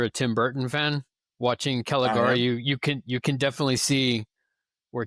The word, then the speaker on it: Caligari: pronounce it? Yeah, Caligari.